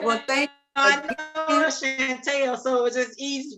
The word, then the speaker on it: Chanelle: I said Chanelle. People always put the T in my name for whatever reason. Maybe I know Chanelle, so it's fine. So all right. Well, thank you. I know Chanelle, so it was just